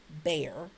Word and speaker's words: Bexar: It's Bexar, Bear, pronounced Bear. That's actually a county in Texas.